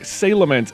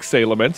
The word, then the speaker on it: Salamence: Like, Salamence is just obviously the way you should say it, because it's cooler and better.